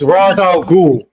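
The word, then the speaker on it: Ra's al Ghul: First of all, my friend, it's not Raza, it's Raza al Ghul.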